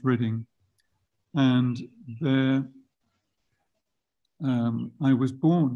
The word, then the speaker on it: Reading: west of London it's spelled reading that is pronounced reading and their I was born in Reading in 1947 not long after I was born